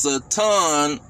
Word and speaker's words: Satan: It say the Hebrew name Satan, pronounced Satan, actually means adversary.